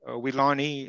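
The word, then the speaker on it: Weelaunee: to it as the wilana forest weilani is kind of how they say it in the area and we did some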